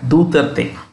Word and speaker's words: Duterte: It's Spanish, so you pronounce like that. Duterte.